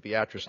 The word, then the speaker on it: Beatrice: You chairman Hoffman for clarifying how it's appropriately pronounced Beatrice Nebraska before redistricting earlier earlier I used to